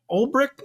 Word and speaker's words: Ulbrich: And listen, I know Robert Saleh was a defensive-minded head coach, and Jeff Ulbrich, is that how you say his name?